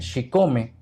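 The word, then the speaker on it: chicome: El número 7, porque el 7 en náhuatl se pronuncia Xicome, y cuando repetimos varias veces Xicome, se conjuga o se crea el Xicome, Xicome, Xicome, México.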